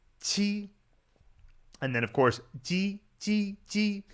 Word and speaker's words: ji: I find that with ji, just say it like you're saying the regular J sound in English, like in Jeep, except with the tongue position against the back of your bottom teeth.